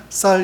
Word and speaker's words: 쌀: 있죠 한국에 죄송합니다 저기 경상도에 쌀하고 이게 발음하게 하면 쌀 이렇게 발음하지 않고 뭐라고 발음하죠 살이라고 저도 군대 있을 때